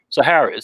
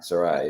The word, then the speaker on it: Sarai: Sarah says, Sahara. Am I saying it right? Sarai? Sarai, yes. Sarai, okay.